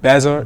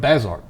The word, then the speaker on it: Bazert: And I keep messing up the pronouncing of your name. Say it. Bazert. Bazert.